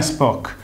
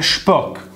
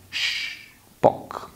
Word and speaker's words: Shpock: Occhio alla pronuncia, non è Spock, è Spock con la sh di sciarpa. Spock.